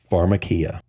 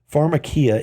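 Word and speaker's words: φαρμακεία: is sorcery the word sorcery in Greek is pronounced phakia does that sound familiar it should phakia is defined as medication Pharmacy which is by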